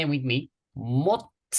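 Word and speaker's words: 못: Most. One more time, please. Most. Most. And the meaning? Hand or nail. Try to say it with me. Mot. T sound at the end.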